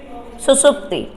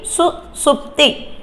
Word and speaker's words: सुषुप्ति: सुषुप्ति सुषुप्ति अब देखिएगा इसका उच्चारण ही आप गलत करेंगे क्या करेंगे सु सुप्ति अब दोनों सा में में अंतर आपको बताऊ तो यह वाला जो सा है फर्स्ट वाला वो दंत से है और यह दूसरा वाला कौन से है दंत तालू मूर्धा वाला यह दंत वाला है यह दंत वाला है इसका उच्चारण दंत है यह मूर्धा है यह मूर्धा वाला सा है मतलब इसका उच्चारण क्या